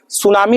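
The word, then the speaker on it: tsunami: P silent होता है सुनामी लिखेंगे ना तो टी साइलेंट होता है सुनामी में टी क्या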